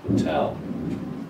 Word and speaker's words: hotel: is the strong one so you say hotel not portal it's Hotel it shows you here in